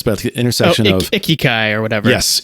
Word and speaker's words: ikigai: It's, there's a Japanese word, but it's about the intersection of ikigai or whatever. Yes. Ikigai. Yeah. I forget how you pronounce it.